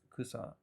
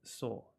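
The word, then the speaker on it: 草: Now normally this kanji is pronounced kusa, as in, and it means grass, weed, or herb. But if you look under the details, you can see that its onyomi, one of its readings, is soul.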